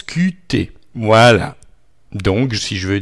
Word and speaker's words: Qt: n'est pas une faute qt en français se prononcent cutté moelle donc si je